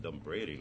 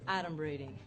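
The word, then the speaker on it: adumbrating: points for me but done braiding that's not even a work I go first of all it's pronounced Adam reading yeah it means pretending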